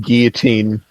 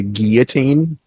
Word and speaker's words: guillotine: The L's, like when you do the double L like that, it's silent. It turns into guillotine.